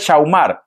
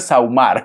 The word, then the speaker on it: sahumar: I think it's okay Because my mother one day he corrected me it is not said shaumar it is said saumar he told me saumar